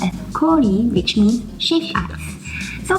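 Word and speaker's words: 氷: As you can see from this character, it's pronounced as kori, which means shaved ice.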